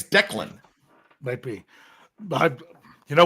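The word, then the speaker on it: DeKaylin: It's Dakelin. Dakelin? Yeah. Daekaylalyn. Yeah. Dakelin. Yep. Or maybe it's Declan.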